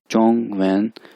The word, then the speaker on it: 中文: और Chinese language को, Chinese यानी ज़ुबान को चाइनीज़ में कहते हैं चोंग वैन, चोंग वैन, चोंग वैन, चोंग वैन, चोंग वैन।